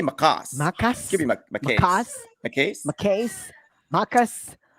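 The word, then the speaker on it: Maccas: I'd say Macas.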